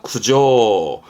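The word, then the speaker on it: 苦情: 거죠 그런 의미에서 어떤 고충 불만을 말하는 한자입니다 발음은 구조입니다 구조 구조 그러니까 예를 들어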